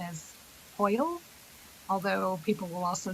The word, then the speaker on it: hwyl: It is a Welsh word, although it has been brought into the English language. I believe the correct pronunciation is Hoyle, although people will also say Whill.